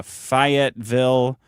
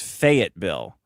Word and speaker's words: Fayetteville: Also, Fayetteville rhymes with Say-it-Bill. Fayette. It's Fayetteville.